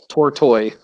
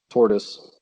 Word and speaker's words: Tortoise: off um I think the band is pronounced tour toy not tortoise I think they're -